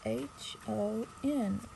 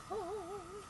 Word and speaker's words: HON: It has H-O-N. Across the print. Home. It said on the website you pronounce it just like home.